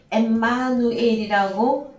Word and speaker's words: 엠마누엘: 그래서 구약도 임마누엘, 신약도 임마누엘인데 신약 헬라어 발음은 엠마누엘이라고 발음은 합니다. 근데 구약 히브리어가 임마누엘이기 때문에 그냥 임마누엘로 우리가 통용하고 있습니다. 그래서 헬라어 엠마누엘이죠, 그죠? 헬라어 발음은 그렇게 되어집니다.